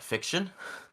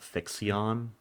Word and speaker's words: FIXION: I call it fiction. Yeah, I I was call it thinking fiction. fiction, or I mean, they could try to drag the pronunciation out FIXION, but I don't know. That sounds It's clunky. I think it's too clunky. It's too clunky for I some guys. It definitely think says it's fiction.